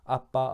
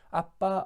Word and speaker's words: 아빠: 우리 마음 가운데 보내사 아빠 아버지라 부르게 하셨느니라. 아멘. 여기서 아빠 아버지라는 단어는 예수님께서 하나님께 기도하실 때 가장 처음 사용하신 표현입니다. 여기서 아빠라는 단어는 아람어 발음 그대로 표현한 것인데 어린 아들이 아버지를 부를 때 쓰는 표현입니다.